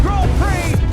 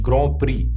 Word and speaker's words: Grand Prix: It was called the French Grand Prix. These words should sound like /ɡrænd prɪks/ But since it’s a French term, It’s pronounced as /grahn pri:/ It literally means the Great Prize.